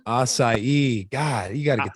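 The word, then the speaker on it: açaí: got delicious flavors including mango passion fruit raspberry a c asia acai god you got to get that right acai well it's so exotic that's that's how you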